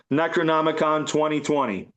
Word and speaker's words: Necronomicon MMXX: Um, it's Necronomicon MMXX, which is pronounced Necronomicon 2020. It's Roman numerals.